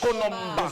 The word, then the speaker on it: Konomba: On va applaudir pour monsieur Konomba. Voilà, c'est la bonne prononciation. Konomba.